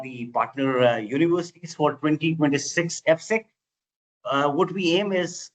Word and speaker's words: AFSIC: We pronounce it as AFSEC.